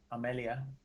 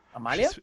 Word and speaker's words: Amalia: Vampire girlfriend is my Amelia. That's Amalia. Amalia.